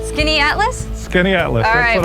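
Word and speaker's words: Skaneateles: Welcome to Skinny Atlas. Skinny Atlas?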